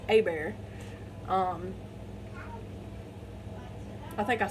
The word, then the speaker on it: Hebert: Last name is spelled Hebert, and you'd think that's pronounced Herbert, but it's Hebert.